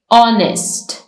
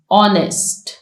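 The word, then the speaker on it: honest: sound नहीं आ रही ऑनेस्ट H mention है लेकिन हम वर्ड को प्रोनाउंस करना ओ से स्टार्ट कर रहे हैं ऑनेस्ट क्लाइम यहां पर बी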